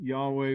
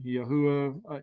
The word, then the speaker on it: Yahweh: you put in it three vowels would be yahweh four vowels would be yahwah uh yahwah i mean nobody's going to get penalized for saying the name wrong if we're we're making our best attempt and and doing the best we can uh you say yahweh i say uh yahuwah you know it's